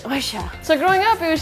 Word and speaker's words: Yoisho: There's a Japanese expression, it's spelled Y-O-I-S-H-O, and my grandmother always pronounced it oisha.